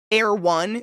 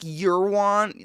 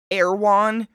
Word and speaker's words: Erewhon: It's like Air One. Is that how you pronounce it? But it looks like Eurwan, like EWRWAN or something. It's spelt really weird, but I think it's called Erewhon.